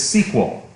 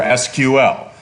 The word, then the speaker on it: SQL: the language of databases is sequel or SQL now if you're old like professor Fife no that's just a fact that's not a joke he's old he pronounces it SQL many older people do